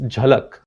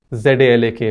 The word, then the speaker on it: Jhalak: In Maharashtra and Gujarat, a name that's popular among girls is Jhalak. Means a glimpse. You have this show called Jhalak Dikhla Ja, a dance show, right? So, but it's spelled Z-A-L-A-K by many people, Zalak.